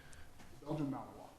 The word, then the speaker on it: Belgian Malinois: What's the name, how do you pronounce the name of that breed? Belgian Malinois.